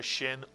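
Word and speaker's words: ש: And what sound does the letter Shin always make? The Shin always makes the sound sh, as in the word ship. So now you pronounce the sound of the Shin.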